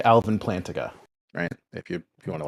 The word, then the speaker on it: Plantinga: a christian evolution so uh i like alvin plantiga you if you want to like compare my theology to someone's what how do you pronounce his name plantinga his last name is kind of weird it's